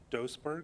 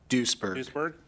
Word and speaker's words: Doesburg: as Officer of the Year, and Doesburg, am I pronouncing that right? Duisburg.